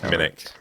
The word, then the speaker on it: Minich: You got it wrong. It's Minich. Minich.